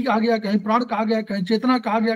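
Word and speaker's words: qi: प्राण, कभी चेतना और कभी प्राण शक्ति कहा जाता है। ये सभी इसके नाम हैं, लेकिन इनकी अवधारणा में यह ची था। कई लोग इसे 'ची' लिखते हैं, लेकिन इसका उच्चारण 'की' होता है।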